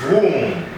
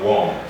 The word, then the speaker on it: womb: pronunciation from the others we say this is womb womb not warm womb and then we've got